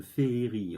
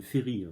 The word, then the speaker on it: féerie: prononcer ce mot mal en français, on le prononce une féerie. En fait, ça devrait dire une féerie, tout simplement.